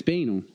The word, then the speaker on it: banal: It's clearly spelled like it rhymes with anal, but I always thought it was pronounced banal.